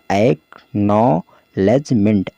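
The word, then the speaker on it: acknowledgement: देखिए किस तरह से पढ़ा जाता है इसको, AC से क्या होगा एक, और K यहाँ पर साइलेंट है, ठीक है। NO से नौ हो गया, और W यहाँ पर साइलेंट है। LEDG से लेज हो गया। देखिए आप कहेंगे कि D कहाँ गया, D नहीं पढ़ रहे हैं, तो D भी यहाँ साइलेंट है, ठीक है, लेज हो गया। MENT से मेंट हो गया, तो हो गया एक्नॉलेजमेंट।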